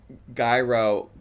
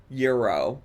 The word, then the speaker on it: gyro: Every time I hear you say gyro kit, I I cringe. It is pronounced euro hehe.